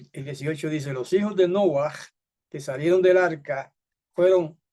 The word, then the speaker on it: Noah: Noé. Pues Noé en realidad se llamaba Noah, que significa algo así como descanso, reposo, alivio, Noah.